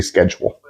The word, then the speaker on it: schedule: not schedule or whatever I say schedule like schz um that came from German that get that that kind of sh sound um so really I